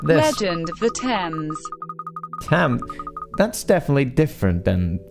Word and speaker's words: Thames: It's pronounced Thames. Thames.